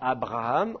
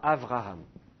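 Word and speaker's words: אברהם: maintenir la double prononciation donc on dira pas Abraham on dira Avraham par exemple on dira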